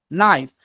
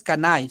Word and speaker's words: knife: no de no diferencia kife es Knife no es can sino kife kife no se no se pronuncia la k directamente kife ya entonces entonces